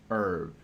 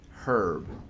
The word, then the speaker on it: herb: it is not an herb it's a herb you pronounce the h it is not silent even if it is